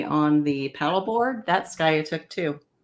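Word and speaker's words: Skiatook: that's Sky took too sky sky say it again sky so it's s k i a t o o k i was pronouncing it completely wrong what were you saying skok pronouncing it like it looks I know um and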